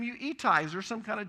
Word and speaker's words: Attai: We pronounce it Attai, but over in Israel it's Ittai.